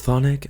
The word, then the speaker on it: Chthonic: I know it's Chthonic. I just think it's funny that they chose the most mispronounced Greek term in existence when people have a